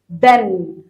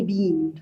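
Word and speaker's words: been: بن. اوعى تقولها لي بين، كارثه، النطق كارثه. بن، هي تتنطق كده بن، اوكي؟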